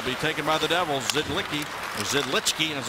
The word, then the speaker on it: Zidlicky: Zidlicky, as it's pronounced, to Henrique.